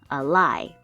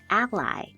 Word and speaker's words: ally: When it is a verb, we would pronounce it like a and then lie. A lie. But when it is a noun, it's pronounced as ally.